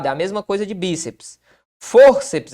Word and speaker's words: fórceps: Fórceps é assim separado, ó. Fórceps. Por quê, Marcelo? Porque é o seguinte, ó, a sílaba tônica está aqui, ou seja, paroxítona, e